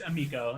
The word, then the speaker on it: Amico: I think it's Amico. Like you got to say it like an Italian, I guess, because Amico.